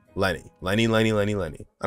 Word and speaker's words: Lyney: pronounce there is Linda there's Lenny not Lanae Lenny Lenny Lenny Lenny Lenny